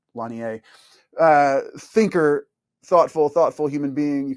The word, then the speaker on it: Lanier: I think it's Jaron Lanier. It's spelled Lanier, but it's Lanier.